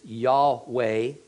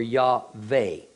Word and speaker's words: Yahweh: really can't form words the commonly held pronunciation is Yahweh or yave this was later English